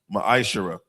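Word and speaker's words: מעשר: 8-10 it means 10 in the Hebrew is pronounced maishara 10% of every penny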